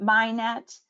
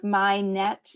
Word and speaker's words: MHIKNET: We pronounce it MyNet, and like MyNet, you know, cast a net looking for information, however you call it,